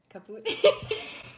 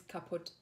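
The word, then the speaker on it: kaputt: It's kaput. Kaput. Kaput. Oh, I always say kaput. You pronounce the U, but yeah, actually, kaput. You say, like, kaput.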